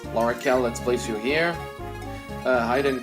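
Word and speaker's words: L'Arachel: Rachel Berry I learned recently that the proper pronunciation is Laura Cal and I should probably start calling her that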